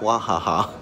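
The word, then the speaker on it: Wahaha: TNT or Yohan and it's pronounced wah ha ha and I used to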